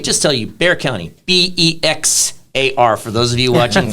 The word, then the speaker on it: Bexar: It's pronounced like the animal, but it's not spelt like that.